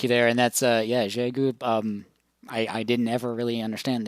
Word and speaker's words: Xiegu: One reason I chose that one over some of the other wire antennas is that the Xiegu can put out 20 watts, and so this